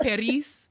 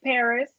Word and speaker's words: Perez: It's not Perez? Why so many R's in it then? It's Paris.